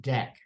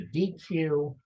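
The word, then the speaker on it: deque: Imports a feature called properly pronounced deck I pronounced a DQ and oh thank you um I pronounced a DQ but it's not it's it's dick well what does deck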